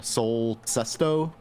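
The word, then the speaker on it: Sol Cesto: Sherman Gloom and uh Soul Sesto. I got to pronounce it correctly if I'm going to be officially highlighting it. I think it's Sesto. It's S O L for Sun Soul and then Sesto.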